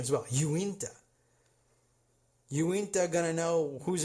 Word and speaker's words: Uinta: Oh, and by the way, I am informed by Ballerina X over at social media that Uinta is how it's pronounced, and it's in a very wealthy neighborhood.